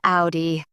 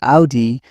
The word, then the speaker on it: Audi: I've heard people say Audi as Audi. Germans pronounce it Audi, but with a softer O.